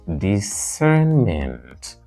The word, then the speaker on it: discernment: or you say bement the word is traditionally stressed on the second syllable so second syllable second syllable what do you call this this is discernment this is discernment use